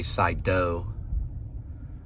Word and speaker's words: Cyto: the side door but they say sai dough the side doe to enos or side door but it's spelled cyto so don't get mad don't